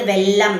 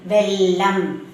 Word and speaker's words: வெல்லம்: அந்த உச்சரிக்கும் போது வெல்லம் சாதாரணமா உச்சரிக்கணும். சரியா வே இல் ல இம் வெல்லம்.